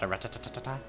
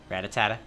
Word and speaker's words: Rattata: Fun fact, I used to pronounce Rattata Rattatatata. Rattata.